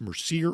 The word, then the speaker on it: Mercier: Tell me more about Mercier Orchards Hard Cider.